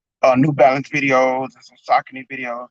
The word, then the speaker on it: Saucony: Saucony's, and now we know it's pronounced Saucony. I always said Saucony, but now we know it's Saucony.